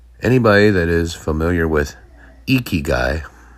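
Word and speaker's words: ikigai: Anybody that is familiar with Eeky Guy, it's spelled I K I G A I.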